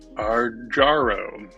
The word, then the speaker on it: Arjaro: I always pronounced that one wrong. Arjo Arjaro. Arjaro.